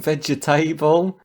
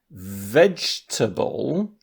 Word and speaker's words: vegetable: So in the example of vegetable, I'm using 3 syllables, but you might say vegetable. And you've got 4 syllables there.